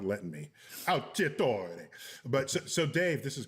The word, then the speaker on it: Alciatore: Alciatore. Alciatore. Yeah, I want to pronounce it in its Italian way, and my tongue is not letting me. Alciatore.